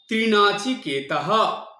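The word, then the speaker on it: ত্রিণাচিকেতাঃ: হবে ইয়েচ ত্রিনাচি কেতাহা ত আকারের পরে দুটো শূন্য আছে বিসর্গ সেজন্য এটা ত্রিনাচছি কেতাহা এটা হ উচ্চারণ করতে সুতরাং ৃতাং পিবন্ত সুকৃতস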